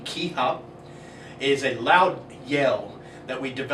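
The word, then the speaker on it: kihap: The ki up, pronounced K-I space H-A-P, ki up, is a loud yell that we develop from deep down inside of us.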